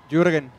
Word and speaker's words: Jürgen: ¿Cómo se pronuncia? Jürgen.